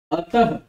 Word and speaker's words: अतः: अब देखिए मैं लिख रहा हूं अतः। इसका उच्चारण जब आप करेंगे तो आपको समझ में आएगा कि मैं इसमें ह भी बोल रहा हूं।